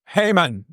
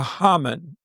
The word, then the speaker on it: Haman: The name of this man is Hmon or Hmon. You can pronounce it either way and I may slip from one to the other. Uh so don't worry about that. Both pronunciations are are acceptable.